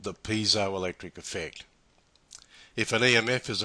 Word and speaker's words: piezoelectric: you may the crystal microphone relies on the piezo electric effect pronounced piezoelectric piezoelectric comes from the greek piezo